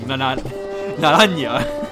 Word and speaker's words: Naranja: Naranja.